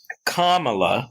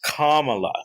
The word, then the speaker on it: Kamala: upset because tucker carlson didn't pronounce it kamala he said kamala or something like that which based on the way it's spelled seems reasonable and i i don't